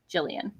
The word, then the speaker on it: Jillian: Jillian says it's a soft G, but it's a pseudonym,